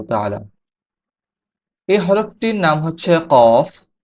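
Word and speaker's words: قاف: এই হরফটির নাম হচ্ছে কফ। কফ, কফ হরফটির মাখরাজ হচ্ছে জিহ্বার গোড়া তার বরাবর উপরের তালুর সঙ্গে লাগিয়ে উচ্চারিত হয়।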